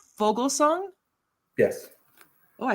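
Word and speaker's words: Foglesong: Fogelsong?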